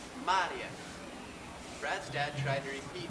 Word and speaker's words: Maria: finished and beautiful hello Mar Brad's dad greeted her is that how you pronounce your name she smiled her teeth were straight Brad noticed no it is pronounced Maria Brad's Dad tried to